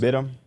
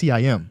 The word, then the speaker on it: Bitim: Bit him. Isn't it Bitim? Yeah. It's Bitim. Yeah. He ain't bite him, he bit him.